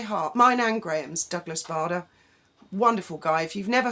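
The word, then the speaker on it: Bader: mine and Graham's Douglas Barda wonderful guy if you've never heard of him please look him up it's actually spelled b-a-d-e-r but pronounced bada he was a prisoner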